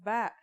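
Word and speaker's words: ب: in this lesson don't our first letter of this lesson is ba and yeah it makes a b sound you can remember this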